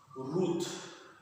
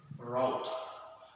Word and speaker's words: route: that even india but most almost all of them they will pronounce this as root but in some part of american america like the new in new york or new jersey they will pronounce this route what and